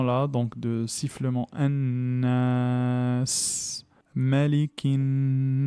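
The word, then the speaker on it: مَلِكِ النَّاسِ: Donc automatiquement le lem prend la caractéristique de la lettre qui le suit et du coup il se prononce pas. Donc on dit malikinas.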